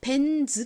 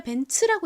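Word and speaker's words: Benz: 치 소리는 없습니다 그런데 왜 벤즈 아니라 벤츠라고 읽느냐 그 이유는요 이 차가 어느 나라 차죠 독일 차입니다이 벤츠라는 이름은요이 차 회사를 설립한 설립자 중 한 명인 카를 벤츠라는 사람의 이름에서 따온 건데 그 칼을 벤츠가 독일 사람이에요 그러니까이 벤츠라는 이름이 독일어인 거죠 그래서 영어식으로 읽는 것이 아니라 독일어로 독일식으로 읽다 보니 이가 지소리 즈 소리로 발음 나는 것이 아니라 츠츠 소리로 발음이 난 겁니다 전에도 제가 여러 번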